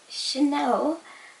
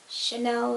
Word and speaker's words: Shinell: It's actually a nickname because my full name would be Chanel. However, so many people just don't know how to pronounce it, and I end up being called Chanel, like the perfume, or I don't know, it just feels weird sometimes.